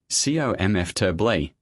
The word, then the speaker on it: comfortably: Which is it? Comfortably. 3 syllables.